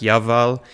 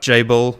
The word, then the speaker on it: Jael: jael's cattle cult uh I think his name pronounced in Hebrew is more like yal but jabel will go with that for our English-speaking audience so this is a